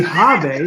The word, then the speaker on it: Javi: same page it's javi like an h h-a-v-i but with a j i've been calling forever when lee originally called him and they said it's got to be hobby i mean that's how you say it yeah it's hobby so it's all good